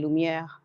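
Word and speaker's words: Lumière: music and French so when I see French names it's hard for me not to pronounce it the way that I know it's supposed to be pronounced so that's why I say lumier lumier artist okay thank you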